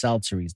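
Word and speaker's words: psalteries: instruments of music and Celtics that's how it's pronounced salsaries now what a celtzuri is is basically an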